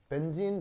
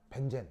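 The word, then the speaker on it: benzene: 벤젠 알겠어요? 벤젠 벤젠은 이제 일본식으로 발음하는 거지.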